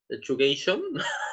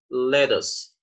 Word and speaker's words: lettuce: Lechugation? No, it's not okay. So pay attention. We'd say lettuce.